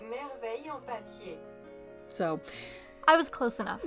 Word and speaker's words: Merveille en papier: But according to Google, it's Merveille en papier.